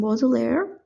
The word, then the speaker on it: Baudelaire: This is from Baudelaire.